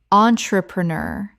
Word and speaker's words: entrepreneur: Entrepreneur. 5 syllables with the stress on the final syllable. This French word is notoriously tricky.